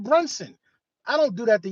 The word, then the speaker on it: Brunson: Some of y'all call me Bronson instead of Brunson.